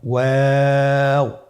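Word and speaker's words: و: 2 ঠোঁট গোল করে মাঝখানে ফাঁক রেখে হরফটি উচ্চারণ করতে হবে।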